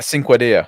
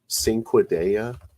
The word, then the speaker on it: Cinquedea: Cinquedea. Cinquedea. Oh, cool. Metal spikes. I could go pick one up. Spell that. I couldn't. Yeah, it's spelled like a cinque, like 5 in Italian.